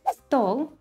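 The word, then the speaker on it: стол: word form for example the word stole table the stress falls on o but in the instrumental case and the table the stress shifts to the second syllable to learn how to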